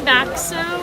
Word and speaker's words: Boxo: Some people say Baxo. Yeah. I don't know if there's like just different dialects. So it's just like Bach, like.